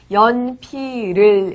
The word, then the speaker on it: 연필을: 뜻을 잠시 살펴 보았구요 다시 발음 설명을 하자면 어 연필 으 연격 을 이 단어를 쓸 때는 연필 우리가 5 쓰지만 말할 때는 연 피를 이라고 발음합니다 연필을 까메 음중 탁한 물